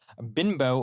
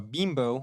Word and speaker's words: Bimbo: Union's renewal of uh binbo or bimbo whatever you want to pronounce it your deal what